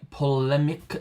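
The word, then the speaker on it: Ptolemaic: uh equant eiq u a n t that is from astronomy that is in the pmic system that's pt o l e m a i with a silent t uh so in that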